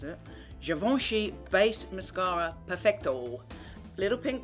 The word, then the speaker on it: Givenchy: Now, I've never tried it before, but this is Givenchy, which I believe is how you pronounce it. Givenchy Base Mascara Perfecto.